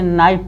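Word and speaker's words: knife: इसको नोक पढ़ेंगे, के साइलेंट रहेगा। इसे नाइफ पढ़ेंगे, नाइफ।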